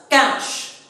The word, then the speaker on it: cache: on to cache memory the spell spelling of this particular memory is c-a-c-h-e but will pronounce it as cash it is a cash